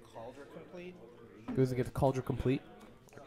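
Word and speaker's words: Compleat: lovingly explained to me in a complete is how you pronounce that and how forexians take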